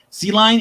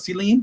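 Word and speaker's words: Celine: I'm saying it right sea lion is already called Selene Selene Selene Selene okay no retail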